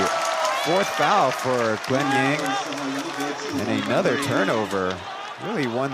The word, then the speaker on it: Yang: That's why his last name pronunciation might be different. In Taiwan, we pronounce that his surname Yang, but of course, for you Taiwanese viewers or Mandarin-speaking viewers, Y-A-N-G is to English speakers, for the most part, Yang.